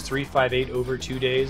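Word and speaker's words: 358/2 Days: uh Less Mobile if that makes sense it's 358 over two days is how you're supposed to pronounce it it's kind of unusual though that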